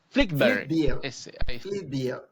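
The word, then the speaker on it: Flyvbjerg: Ahorita lo mencionamos a su autor, al señor Flint eh Jeep Flickber. La J. La J se pronuncia como I en en danés, llamarlo.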